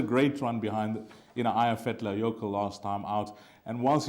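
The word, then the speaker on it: Eyjafjallajökull: try and impress you it's aya fetla yoko aya fetlayoko and it was an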